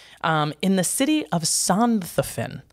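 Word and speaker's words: Sonthofen: is an exception um in the city of sondhoffin santhofin perfect perfect pronunciation can you please right here s-o-n-t-h-o-e-n is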